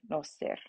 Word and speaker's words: noster: So on the A of pater, the O of noster, and the Q and the U of qui.